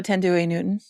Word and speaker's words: Thandiwe Newton: Thandiwe Oh, Thandiwe Newton.